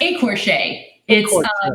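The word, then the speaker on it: écorché: it again it's pronounced a Porsche a it's a French word women would not to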